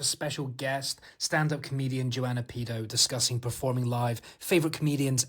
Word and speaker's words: Pido: Is that the correct pronunciation? Yeah, Pido with the I.